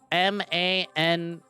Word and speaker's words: Manaka: name is Monica, but it's spelled M-A-N-A-K-A, Manaka. Not Monica, but still almost pronounced like it.